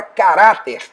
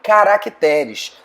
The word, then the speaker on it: caracteres: Algumas palavras acabam tendo modificação na sílaba tônica. É o caso da palavra caráter, que faz plural em caracteres.